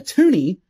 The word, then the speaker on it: toonie: And a toonie is a $2 coin, named such because it rhymes with loonie.